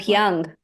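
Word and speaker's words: Abhyanga: Abhyang. So Yeah. people pronounce it abhyang here in the West.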